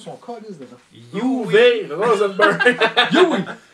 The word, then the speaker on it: Uwe Rosenberg: Comment qu'on prononce son calice dedans? UV Rosenberg. Yui Rosenberg.